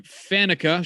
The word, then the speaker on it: Faneca: So let's start with Alan Faneca, or however it is you pronounce that, because Faneca is correct.